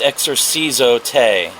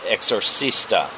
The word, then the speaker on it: exorcis: "It's exorcis, not exorcista," Gerald said. "You're asking it to leave, not naming it."